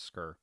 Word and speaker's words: Sker: right in the game I've heard them pronounce it as scur really interesting um because